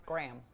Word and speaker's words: Graham: So in Australia, you say Graham, but in American and I guess Canadian, it's Graham. Just one syllable.